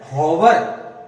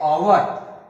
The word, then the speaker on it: hour: कई विद्यार्थी HOUR इसे कहते हैं हॉवर। हॉवर नहीं भैया, यहां पे H साइलेंट है, यहां पे H साइलेंट है और इसका उच्चारण हम करेंगे ओवर।